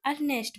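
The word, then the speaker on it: earnest: हो रहा है अर्नेस्ट ई हटा दीजिए अर्नेस्ट पढ़िए जब भी ई के आगे ए आर आएगा तो आप समझ लीजिएगा अर्ण ही पढ़ना है हमको उसको र्ण नहीं पढ़ना है तो उसको अर्ण पढ़िए अर्नेस्ट अर्ण अर्थली ठीक है ई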